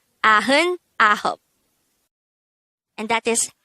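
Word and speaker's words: 아흔아홉: So, 99 is actually pronounced as a-heun ahop.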